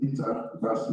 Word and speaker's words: Dieter Bassi: Dieter Bassi, the spelled Dieta, or we pronounce it Dieter Bassi, is the director, my apologies for that.